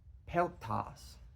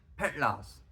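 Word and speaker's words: Petlas: Wheels uh yeah uh pelas they or sorry pronounce that wrong petl the petl um yeah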